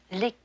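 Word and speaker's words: liqueur: When referring to a cordial, we use the French pronunciation ler.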